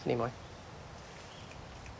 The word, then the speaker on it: Nimoy: Nimoy what a good job you did. Thank you so Nimoy. Much. It's Nimoy. Anyway, thank you. Thanks. Nimoy. It's Nimoy.